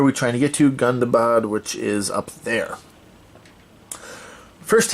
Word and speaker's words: Gundabad: go to Mount gundabad I've been pronouncing this wrong in all my previous videos it's not it is not gonna bad it is gundabad apparently gundabad I don't know but